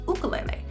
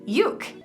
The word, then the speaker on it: ukulele: the end all answer if you want to use the pronunciation more traditionally uh you you should use ukulele if you are saying it really short you can say yuke if you're using the Americanized version you can say ukulele you know everyone's going